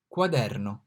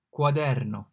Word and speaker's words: quaderno: So Q is pronounced like Q in quarter, quaderno, quaderno, quarter.